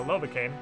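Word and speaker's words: Lovakengj: Now we can cross the bridge up here to Lovacane. Or as I like to call it, Lovakengaja. Because that's how it's spelled.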